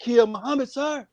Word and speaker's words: Muhammad: moved back here and he told me that the accent is on the second syllable that's what he told me he really asked me brother what is your name i said muhammad you know brothers the